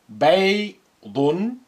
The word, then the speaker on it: بيض: بيض بيض. Note how I pronounce the ya with sukun sound I.